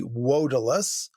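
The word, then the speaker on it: Vodalus: Vodilus would be wodilus, the classical Latin V being pronounced as an English W.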